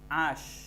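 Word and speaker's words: h: আশ কোথায় আছে? এই যে আশ। আশ হবে না হা। আচ্ছা, এইচ, এইচের উচ্চারণটা উচ্চারণ উর্দু থাকবে।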